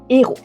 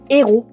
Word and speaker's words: héros: Le H aspiré, il est là, on ne le prononce pas mais il bloque la circulation. La circulation de quoi ? Il empêche les litions et il empêche la liaison. C'est le cas du mot héros.